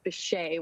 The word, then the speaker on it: Bishé: He believes that our last name is French. He grew up pronouncing it differently, and then he sort of discovered some history and decided it was Bishé when he was young.